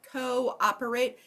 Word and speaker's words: cooperate: got macroeconomics we've got co-operate this is one where we kind of slur it together it is important that you pronounce both of those for spelling sake okay what's your base